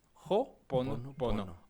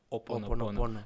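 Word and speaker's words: ho'oponopono: Nada más hagan un jo y después van a repetir la sílaba pono dos veces. Jo pono pono o si lo quieren decir con h muda o pono pono.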